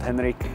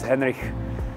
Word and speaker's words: Henrich: You can't say the CH, so I'm used to being called Henrich, you know. So, but the authentic is Henrich.